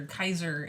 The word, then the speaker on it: Caesar: And also the fact that they call each other Kaiser and not Caesar. And like even the Ghoul was the soft C.